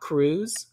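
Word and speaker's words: Kruse: imdb uh this actor's name is scott cruz cruz is spelled k-r-u-s-e and he's kind of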